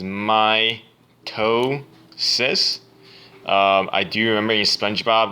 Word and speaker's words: mitosis: over on the pronounciation mitosis is my toe sis I do remember you